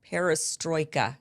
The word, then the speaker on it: perestroika: to say it disarmament in the time of perestroika did I say it right you did you